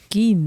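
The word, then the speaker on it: Gein: Gin. No. Ed gain.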